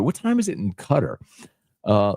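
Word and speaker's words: Qatar: was that big thing is it cutter or guitar and then um seem to remember people saying cutter was how you pronounce it anyway but thanks for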